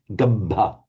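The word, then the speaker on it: gabbha: Now, a couple of bits, being much more careful about holding the doubled consonants there. Can you just say gabba? Gabba. Gabba. Okay, right. So gabbameke upajanti. Gabbameke upajanti. Right. Now here's a good word to practice on, because we've got two doubles. We've got a double p and a double j.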